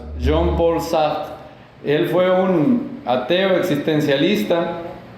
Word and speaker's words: Sartre: Si le quieren decir Sartre, está bien. En francés, Sartre. Se pronuncia un poco raro. Jean-Paul Sartre.